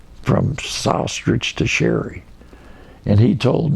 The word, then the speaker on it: Sostarich: And I'll tell them, okay, say ostrich and put an S in front of it. Sostarich. That's the way to do it.